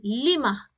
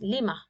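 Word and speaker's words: لِمَ: So whenever questioning tool ma is joined with harf jar li, the alif is deleted and it becomes lima. Okay, and in pronouncing, we will use as lima, like this, lima.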